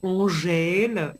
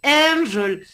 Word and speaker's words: Angel: Alors pour moi, quand midi à Zot dit Angel, Zot dit Angèle, etc. Non, c'est Angel.